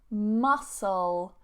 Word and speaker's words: muscle: It's pronounced exactly the same as the little crustacean, the seafood, the one in the black shell that you boil, and then you can eat it, of course. You take the mussel from inside. They have the same pronunciation, but different spellings.